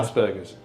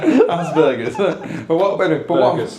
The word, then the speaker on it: Asperger's: Asperger's. Get you. Right. No. You put the emphasis on the wrong letter there. Asperger's.